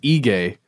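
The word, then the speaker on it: Aegae: In a place called Ege. And again, the internet says I should pronounce it that way. It's spelled A-E-G-A-E.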